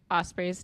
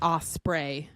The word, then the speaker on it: Osprey: his name wrong like she says osprey and it's off spray when I was trying